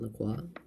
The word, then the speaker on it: LaCroix: Pronounced LaCroix, not LaCroix.